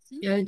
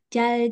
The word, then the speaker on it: 잘: Tadi kan huruf yang kayak angka 2 itu kan ada L, ada R. Nah, kalau si huruf ini ditaruh bawah jadi L ya. Pokoknya harus jadi L. Kalau di depan kayak nama saya jadi R gitu ya.